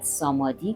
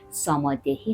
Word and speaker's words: samadhi: تلفظ میشه و بعد سامادی که سامادهی هم تلفظ میشه تکتک اینا رو براتون